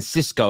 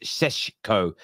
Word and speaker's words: Sesko: it isn't CES but a lot of people keep saying Cisco I believe it's pronounced SES Sesco um I could be wrong but I I